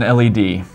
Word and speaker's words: LED: hero of Technology the LED how do you pronounce an LED or I call it lead actually it's supposed to be called LED but